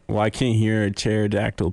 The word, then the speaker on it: pterodactyl: Matt, why can't you hear a pterodactyl P? Why? Because the P is silent.